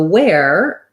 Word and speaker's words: where: So where, that's pronounced the same as this wear as in warehouse, and this wear as in wearing clothes. And so you might want to think about it as being the W sound plus the air sound, where, versus were.